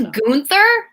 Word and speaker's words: Gunther: It's Gunther? Gunther. Put some respect on that name. I've been saying it right.